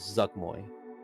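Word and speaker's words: Zuggtmoy: The queen that apparently resides on the 222nd layer of the Abyss is known as Zugmoy. And I will spell it for you.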